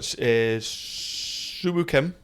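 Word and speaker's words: Si Woo Kim: So you've got Suwoo Kim.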